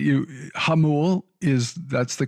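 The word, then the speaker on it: Jamul: Hamul is that's the correct pronunciation and just like Hamasha, right?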